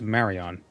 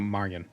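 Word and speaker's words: Maryon: study conjuration that's what's important okay so it's pronounced Marion not Marian but I don't really want to call Master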